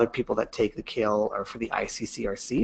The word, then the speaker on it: CAEL: indan academic English language assessment and it is pronounced kale um so you're never going to be asked